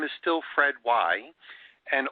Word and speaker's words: Weih: His name is still Fred Weih. And although it sounds like W-H-Y, it's spelled W-E-I-H.